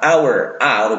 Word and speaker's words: hours: pasti our Kenapa Kena karena haur hours itu bacanya bukan haur tapi hanya ilang our awalnya makanya menggunakan our power